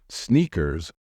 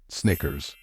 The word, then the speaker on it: Snickers: my years of experience many non-native speakers tend to pronounce this word as sneakers however sneakers are sport shoes in this word the middle sound should be short like in the word it so it's not sneakers it is Snickers well look bring me